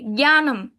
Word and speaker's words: জ্ঞানম: তারপর হচ্ছে জ্ঞানম, এখানে দেখুন যে অনুষ্কারটা আছে, এটাকে হচ্ছে আমাদের কিসের মতো ময়ের মতো উচ্চারণ করতে হবে, জ্ঞানম। আমি উচ্চারণ করার সময় জ্ঞানম।